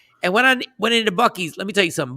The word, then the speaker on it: Buc-ee's: This is a place called Buc-ee's. Am I saying it right, Shawnee? Buc-ee's? Mm-hmm. Yeah, Buc-ee's.